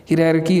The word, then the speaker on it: hierarchy: हिरारकी इसकी correct pronunciation है HIERARCHY, ये इसके करेक्ट स्पेलिंग है।